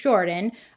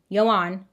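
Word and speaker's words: Joran: So, the United States District Court of Northern Alabama charged Jordan, not Jordan, Yoan, but it's spelled like Jordan.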